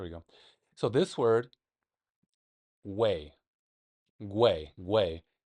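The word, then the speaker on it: güey: So this word, way, way. Way. I don't think you hit the G very hard in this one.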